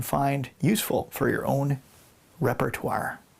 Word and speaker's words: repertoire: useful for your own repertoire. Repertoire. Not repertoire. It's spelled that way, but you actually pronounce it repertoire.